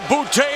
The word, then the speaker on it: Bute: Chance of bouty already ringing throughout the video center. James Del Gail will have to get used to hearing the first syllable in the name Bouty.